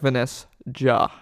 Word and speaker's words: Vanessjah: Just insert a Like- J in there, so it's like Vanessjah. and then a H But- at the end. And then I hate Don't it. pronounce Yeah. don't pronounce the J.